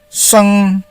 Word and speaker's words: sheng: SHEng is pronounced as sung.